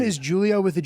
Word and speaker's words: Giulio: I like dropping a hard G sometimes, but it's pronounced is Julio. Okay. It it always is. My name is Julio with a G, but not Julio.